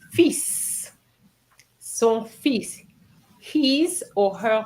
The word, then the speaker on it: fils: Is The son pronunciation. fils.